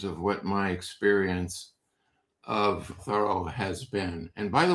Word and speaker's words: Thoreau: And also, he liked the French pronunciation of his last name, which most people say Thoreau, but it's Thoreau. Thorough like thoroughly, thoroughly, or thorough job, or thorough, and as opposed to Henry David Thoreau.